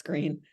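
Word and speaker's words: Gruene: town called green but you're not supposed to pronounce it the way it's spelled right well I mean I I guess the old Germans would say gron yes but they colloquially now it's green well this is so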